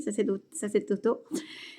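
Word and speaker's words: sacerdotaux: leurs habits sacerdoto, oui, en effet, ça se prononce ainsi, sacerdoto, les prêtres prosternés devant l'autel invoqua le ciel,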